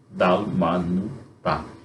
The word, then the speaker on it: Dalmanuta: Geralmente o acento é na última sílaba, dalmanu, tá?